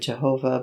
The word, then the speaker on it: Jehovah: indicate the traditional pronunciation the consonants yahweh were provided with the vowels of adonai adonai and the name was therefore read jehovah by christian scholars the